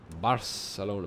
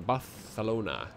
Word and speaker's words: Barcelona: out ah so Falls Barcelona barthelona rather we're going with the proper pronunciation here good now they